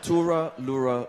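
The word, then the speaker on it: Too-Ra-Loo-Ra-Loo-Ral: Tura Lura Lura. It just sounds funny. You know, when you ask a Middle Easterner to pronounce an Irish lullaby, that's, yeah.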